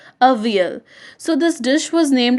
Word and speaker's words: avial: Okay, it is pronounced as avial. Avial.